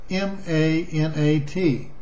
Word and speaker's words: Manat: These three goddesses were, and I'm going to spell this, A-L-L-A-T, A-L-U-Z-Z-A, and M-A-N-A-T. I'm going to try to pronounce that.